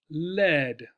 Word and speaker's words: lead: e a d right the pronunciation for this Leed not lead which is another pronunciation